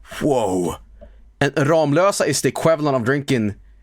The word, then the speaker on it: Ramlösa: Ramlösa shows up. And he pronounced it Ramlosa.